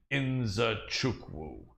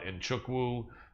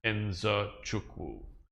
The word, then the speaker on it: Nzechukwu: And virtually nobody pronounces that right. People call it Nchukwu or Nzechukwu, but no one says it the way he says it, which is how it's supposed to be, Nzechukwu.